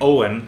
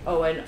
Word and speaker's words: Eoghan: down my name and for those who like are hearing Owen written out you might be thinking to yourself that it's spelled like o WN or something oh no it's like it's the Irish Owen Irish people we love